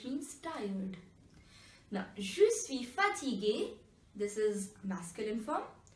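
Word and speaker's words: fatigué: Iggy you should see fatigue fatigue II which means tired now you see fatigue a this is masculine form in feminine form also the pronunciation is exactly same so that's just be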